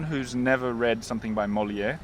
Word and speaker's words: Molière: for someone who's never read something by Molière, am I saying it right? Molière? Yes, Molière.